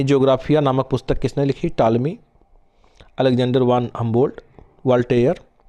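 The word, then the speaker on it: Ptolemy: पता ही है आपको इसके लेखक टॉलमी है और आपको पता है कि प यहां पर क्या होता है साइलेंट होता है इनके नाम में ही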